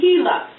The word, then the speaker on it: Gila: Right next to the words, they'll tell you how to pronounce the word. So here, this, it looks like it would say Gila, but it's actually Gila.